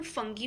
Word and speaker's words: fungi: तो इनकी बुनियाद पर ये सोचा गया कि किंगडम एक बननी चाहिए फंजाई के लिए भी। फंजाई की प्रोनाउंसिएशन फंगी भी हो सकती है, मगर हम फंजाई रखेंगे।